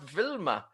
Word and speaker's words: Wilma: thinking he was running wilma over i think that could get very complicated very quickly we'll get to the oh sarah says it's pronounced vilma we can't decide if